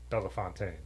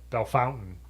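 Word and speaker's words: Bellefontaine: it wrong in the in the French pronunciation it is Bella fontine but B Fountain is how everyone who lives there calls it and that's what it's called though you know what I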